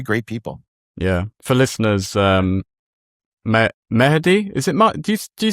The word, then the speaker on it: Mahdi: You pronounced it the exact Arabic way, which is correct, which is Mahdi. But majority of people do call me Mahdi, as in Yeah, I mean Mahdi rolls off the tongue, but I quite like Mahdi.